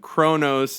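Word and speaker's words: Qo'noS: names and such and Kronos is how you pronounce the Kronos is how you pronounce the Kling on home world name.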